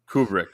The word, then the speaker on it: Kubrick: Kubrick though yeah yeah Stanley kubri kubri is it kubric is that the kubri Kubrick okay I don't want to mispronounce it because I think the Flur have got me saying it wrong but yeah well I